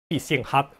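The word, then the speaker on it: 必胜客: 광동어도 뭐 아주 흡사하진 않지만 그래도 표준어에 비해서 必胜客 보다는 조금 더 유사합니다. 한번 들어보세요. 必勝客 피싱핫 이렇게 하죠.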